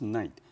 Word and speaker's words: knight: was a very famous knight in King author's Kingdom students be aware here K we don't pronounce it so it pronounced just like a night number frame none I